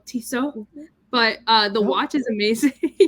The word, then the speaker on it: Tissot: It's French, so Tissot.